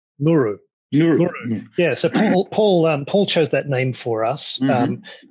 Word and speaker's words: Nguuruu: Give me the pronunciation. Nguuruu.